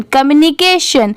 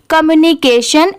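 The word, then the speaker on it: communication: ए को के पढ़ेंगे और टी आई ओ एन को हमेशा सन ही पढ़ते हैं तो पूरा क्या हो जाएगा कमिकेशन कम्युनिकेशन इसकी प्रोनाउंसिएशन ऐसे आएगी कम्युनिकेशन कम्युनिकेशन ऐसे इसे स्लो में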